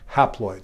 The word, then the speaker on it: haploid: And the half number of chromosomes kind of rhymes with the word half, or it begins with the same prefix. It's called haploid.